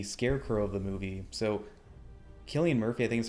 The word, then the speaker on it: Cillian Murphy: And then also, when it came to the Scarecrow of the movie, so Cillian Murphy, I think is how you pronounce his name, he originally auditioned to play Batman, didn't get the part, and was cast as Scarecrow.